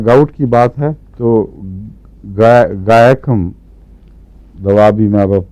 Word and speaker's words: Guaiacum: اس کی اسپیلنگ ہے GUAIACUM، گائکم. میں گائکم ہی پڑھتا ہوں اس کو.